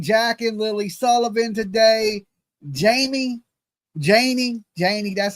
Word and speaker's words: Janie: JANIE, that's how you say it, JANIE.